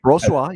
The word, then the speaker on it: Brossoit: I agree that Brossoit, or however you pronounce his name. That's right, Brossoit.